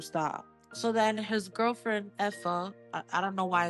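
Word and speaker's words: Aoife: So then his girlfriend Effa, I don't know why it's pronounced like that. Is that how it is? Yeah, Effa.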